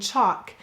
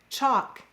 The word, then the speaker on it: chalk: Did you know that in words like walk, talk, and chalk, the L acts kind of like a silent E, except it's a silent L. And it's cluing that vowel to say its broad sound.